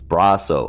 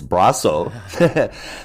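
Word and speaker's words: Brosseau: been corrected by him twice for saying his name wrong it is braso I thought it was bro bro I mean I've pronounced it a bunch of different ways and finally he yelled at me so it's braso the story starts out at the end and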